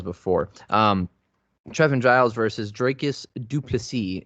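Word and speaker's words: Dricus du Plessis: um trevin giles versus dracus duplici is how you pronounce the name he made a very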